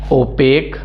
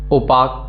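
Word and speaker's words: opaque: अगला है ओपेक, ओपाक ये नहीं पढ़ना है इसको पढ़िएगा ओपेक, एंड इसका मतलब होता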